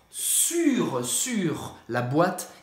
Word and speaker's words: sur: O primeiro, sobre, é sur. Sur, sur. La boîte é sur la table. Para pronunciar isso, faz a boca do U e fala I, su e pronuncia o R. Sur.